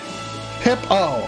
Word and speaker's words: Pippo: Pip, that doesn't clear up whether it's Pippo or Peepo. You gotta do it phonetically. Go on, archers. Hey! Pippo.